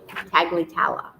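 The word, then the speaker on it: Tagliatela: Chair of the Computer Science and Cybersecurity at, pronounce that for me. No, Tagliatella.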